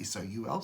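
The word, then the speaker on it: sol: It's Latin word for sun is S-O-L, which is pronounced just like S-O-U-L, soul.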